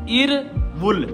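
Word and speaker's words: 일월: की आवाज देता है अब इसने क्या प्रोनाउंस होना है इर वुल इर वुल इर वुल कैसे बना क्योंकि ये जो रियल था ये आगे शिफ्ट हो गया है इसलिए यह रे की आवाज देगा ना कि लाम की आवाज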